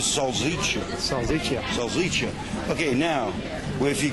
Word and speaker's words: salsiccia: The correct pronunciation is salsiccia.